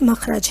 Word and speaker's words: مخرج: مخرج کسے کہتے ہیں۔ اس کا اصل تلفظ مخرج ہے، بہت سے لوگ اس کو مخرج بولتے ہیں جبکہ اس کا صحیح تلفظ مخرج ہے۔ مخرج کہتے ہیں